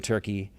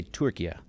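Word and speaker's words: Türkiye: some pretty remote places or I should say Turkey because I I had to agree to pronounce it by its new rebranded name. Turkey is not Turkey, it's Turkey.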